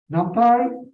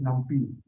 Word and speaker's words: NumPy: A lot of people like to pronounce this as NumPy. I don't know why, but the word here is numerical Python, Pi. So it's NumPy.